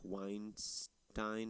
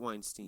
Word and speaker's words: Weinstein: That's how they're spelled the same, but the pronounced different.